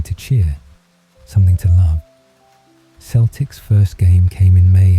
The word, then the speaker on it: Celtic: They named it Celtic Football Club, pronounced with a soft S like the ancient tribes of their Irish ancestors.